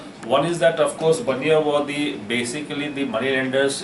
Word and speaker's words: Bania: Similarly, Bania or Banyan, that's what actually is pronounced here in English. Of course, in Hindi we call them Bania.